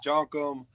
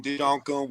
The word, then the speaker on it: Djonkam: you definitely pronounced it right, though. Djonkam. Sometimes even I mess it up. I'm saying Djonkam, which, hey, whichever way you want to say it, as long as you say it.